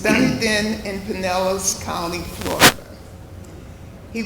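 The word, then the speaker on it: Dunedin: but it's done then in Panelis County, Florida.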